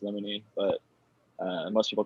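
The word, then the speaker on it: limonene: It's actually pronounced lemonine, but uh most people call it lmonine.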